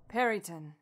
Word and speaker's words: Peryton: I think it's a Peryton, is how you pronounce it? Peryton.